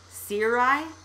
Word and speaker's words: cirri: Cirri? Yep. It's pronounced cirri.